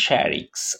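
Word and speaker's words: shrieks: ওকে, এবারে সোনাবান শ্যারিক, উচ্চারণটা হচ্ছে শ্যারিক্স, ওকে, ইন সারপ্রাইজ, তাইলে সোনাবান চমকে চিৎকার করে।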